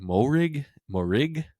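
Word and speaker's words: Moehrig: Morig.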